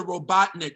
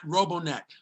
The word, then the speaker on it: Robotnik: myself in my ear it's dr robotnik not robonak i didn't know what